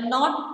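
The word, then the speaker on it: know: Sometimes words have letters that are not pronounced when the words are spoken aloud.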